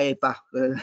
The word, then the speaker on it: EPA: ambientale negli Stati Uniti l'ipa no cosiddetta epa nell'acronimo pronunciato in italiano e lì ci fu